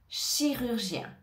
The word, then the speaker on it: chirurgien: suivant c'est le mot chirurgien chirurgien alors ici on a le son che au départ C che chi avec le i chi rur gen ici je te conseille